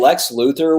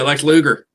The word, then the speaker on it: Lex Luger: even bigger but man Lex Luther was or not Lex Luther um Lex Luger Lex Luger is that his name yeah Lex Luger Lex Luger okay I'm like am I saying it right yeah now that guy